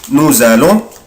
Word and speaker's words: nous allons: أخلي بالي يا حبايبي nous هنا هنطق برضه حرف الاس زد. Nous allons, vous allez, ils vont, elles vont.